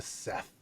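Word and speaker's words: Szeth: And then that leads right in to the first introduction to Seth. Seth. I never knew how to pronounce his name properly. It's just Zeth with the S, yeah.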